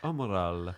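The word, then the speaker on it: umarell: Umarali. Umarali. I think. Yeah. That's the way you pronounce it.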